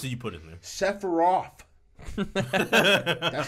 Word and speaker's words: Sephiroth: how many f's did you put in there sephiroth that's how you pronounce it sephiroth except for you yeah